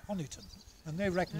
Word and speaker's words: Honiton: There's one or two from, spelled with all kinds of different ways, Honeytown. I've always said Honiton. So well, the historically minded people say Honiton, and they reckon it's after a Saxon patriarch called Honey, H-U-N-I, Honey.